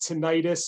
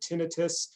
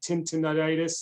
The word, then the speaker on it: tinnitus: can also be pronounced tinnitus although most medical professionals will use the word tinnitus please just avoid using extra syllables it becomes in the office our patients will say tin tinnitis and there's a lot